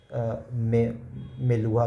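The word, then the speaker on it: Meluhha: समरियन Sumerian text में Indus reason को ऐसे मेलुहा करके प्रोनाउंस किया जाता है डिपिक्ट किया गया और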